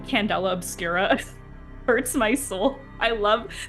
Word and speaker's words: Candela Obscura: Candela Obscura is exactly the way that you pronounce that, and it's dark candle.